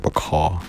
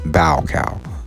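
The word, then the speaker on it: Baucau: pronounced that right b-a-u-c-a-u it looks like bacall okay elsewhere east timorese resistance continued but by 1978 the annexation of east timor by indonesia was essentially complete bow cow is pronounced bow cow possibly during the initial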